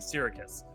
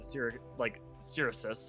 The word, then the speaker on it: Syracuse: He keeps referencing Syracuse. Also, thank God for him saying it out loud, so now I know it's Syracuse instead of Syracis, or it just, I know for sure how it is pronounced officially.